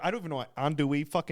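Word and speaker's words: andouille: a southern thing he's like oh that that's andu andu it's like the sausage kind of thing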